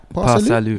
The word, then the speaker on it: PA Salieu: PA Salieu. Yeah. I feel like the pronunciation is very important.